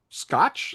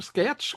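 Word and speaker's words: Schaech: cast that Liv Tyler, Charlize Theron, Giovanni Ribisi, Tom Everett Scott, Jonathan Scotch, Scatch. I forget how to pronounce it. I don't know how to pronounce his name. Shaq.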